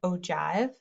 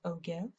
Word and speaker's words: ogive: cumulative frequency graph otherwise known as an ogive not pronounced ogive and they all use